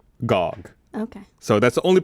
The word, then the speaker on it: GOG: Bicycle, saying that it's pronounced GOG.